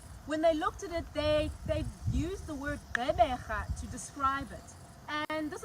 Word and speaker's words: Gqeberha: to pronounce the word Gqeberha. It has 3 clicks, right? As I said, the word is a combination of Khoisan as well as isiXhosa. The first click is the GQ.